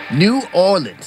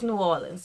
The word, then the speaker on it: New Orleans: Yeah, I don't think you're supposed to pronounce every... No, it's New Orleans, baby. New Orleans. New Orleans. Yeah, like that.